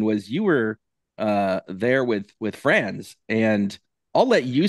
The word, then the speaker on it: Franz: So start with the proper pronunciation of his name. Yeah, so his name is Franz.